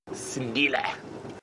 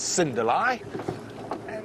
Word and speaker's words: Sindile: And of course, we at Safari Live know him as Cindila or as uh sometimes we say it mispronounced Cinderella.